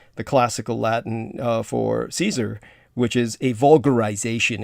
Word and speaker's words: Caesar: in the latin the classical latin uh for caesar which is a vulgarization it's an anglo-bastardized word the original latin pronunciation is caser and so in the german that just simply